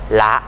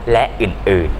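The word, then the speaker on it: ฯลฯ: ๆ ช่วย กัน หิ้ว มะขาม กระเทียม หัว หอม ละ นะ ครับ หรือ อ่าน ว่า เด็ก ๆ ช่วย กัน หิ้ว มะขาม กระเทียม หัว หอม และ อื่น ๆ อย่าง นี้ เป็น ต้น นะ ครับ เครื่อง หมาย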